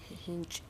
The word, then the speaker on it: hinge: the same reason here that e is actually doing some job what is that job hinge pronunciation it is changing the sound of the consonant this e is changing the sound of the g if that e were not there then it would be hing right because of that e